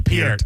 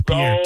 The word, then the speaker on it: Peart: His name Neil Peart. It's not Y'all Peart. said it 2 times wrong. It's actually Peart. It's Peart.